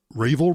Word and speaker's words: Ravelry: and crochet site that I don't have to pronounce it Rayville REE Rav e l ry they are now